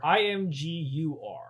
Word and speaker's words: Imgur: IMGUR. GUR. I'm assuming it's Imgur. It could be Imgur, but I'm pretty sure it's Imgur. Imgur, like image.